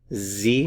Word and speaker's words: Sie: Sie, notice the pronunciation here, Z, Sie sprechen, Sie sprechen.